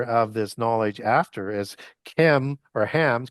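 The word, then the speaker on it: Cham: this knowledge after is Chem or Hams because Ham is spelled C H A M. though as we would transliterate that as Chem.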